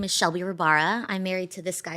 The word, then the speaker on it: Rabara: it's Rabara.